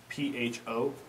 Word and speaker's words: Pho: Pho is spelled P-H-O, not F-U-H. Pho.